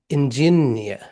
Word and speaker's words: engineer: work as an engineer the stress we have three syllables here I'll show you in g so we have three syllables here stress which one should we stress it is engineer.